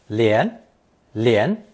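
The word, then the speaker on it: 联: It's pronounced 连 and means to unite, join, make an alliance with.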